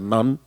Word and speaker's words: Nantes: la isla de Nantes, se escribe, pero se pronuncia non, eh, y tienen estas máquinas en exhibición y también hacen pasacalles.